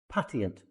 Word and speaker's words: patient: Patient. Patient. Patient. Patient. It's a chh sound.